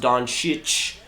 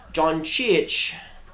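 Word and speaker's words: Dončić: It's pronounced Doncic. Doncic.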